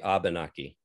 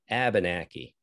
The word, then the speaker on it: Abenaki: to the original word if you're an english speaker you might say abenaki it's a little more of an a british english pronunciation if you are from vermont and you have vermont characteristics to your speech you're going to say abenaki you're going to flatten your a's out and some vermonters including